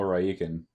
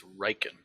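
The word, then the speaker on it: Rieekan: So Where is General Raikin in all of this madness? God, please say his name right. It's Riken.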